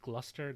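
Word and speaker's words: Gloucester: pronounce some of these names I know it's pronounced like gluster GL gler Glouchester Worster was the worst war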